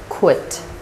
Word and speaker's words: quit: It's quit. Quit. Can you say with me? Quit. The word quit starts with k sound. And then w.